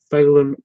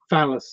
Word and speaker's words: Phelan: It gets mispronounced as phallus all the time, and he has to yeah, it's really.